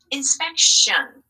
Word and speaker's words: inspection: read this with me in spec shun inspection you hear that shown sound okay good job here's